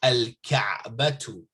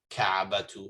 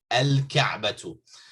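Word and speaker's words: الكعبة: Okay, so al-ka'batu, So the Kaaba, right? So there's no shadda here. You don't say Kaaba, Kaabatu or something. No, al-Kaabatu.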